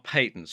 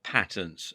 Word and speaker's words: patents: Now, protections 1 and 2 are patents or patents, as some people pronounce it.